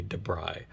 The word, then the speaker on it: Dabrigh: website the first time, they actually have a little voice um button that you play and for the pronunciation of the names, and they do say Debri.